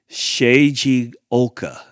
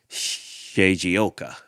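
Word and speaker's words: Shigeoka: right I think it's shayi Oka and it's spelled s h i g e o k a shoka i think it's how you say say that he shares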